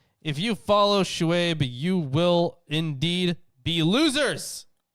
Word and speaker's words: Shuaib: Also, let's see how this is pronounced. Shuaib. Oh. Shuaib, okay.